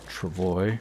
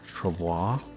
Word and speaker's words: travois: If we can get enough deer hides cured and some maple saplings, we can actually make the sled, or travois, or travois, depending on how you pronounce it.